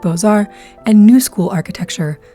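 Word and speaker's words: Beaux-Arts: City citycape these are bozar style buildings boar which is spelled kind of like books Arts was old school it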